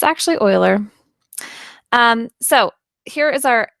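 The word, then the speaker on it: Euler: The Uler number can be um see I just said it wrong. The Oiler number can be used to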